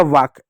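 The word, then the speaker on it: walk: डब्ल्यू का व हो गया, ए का आ हो गया, के का क हो गया वाक। एल क्या साइलेंट होता है, एल के कभी भी साथ में है तो हमेशा एल आपका साइलेंट होगा।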